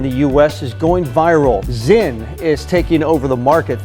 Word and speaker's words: Zyn: Zyn is taking over the market. It's Z-I-N? Is that how you say it? Z-Y-N. Z-Y-N? These are Zyns, small, smokeless packets that deliver nicotine without tobacco.